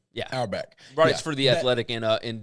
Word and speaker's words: Auerbach: There is an athletic writer named Nicole Auerbach. I think that's how you pronounce her last name? Auerbach. Yeah. Auerbach.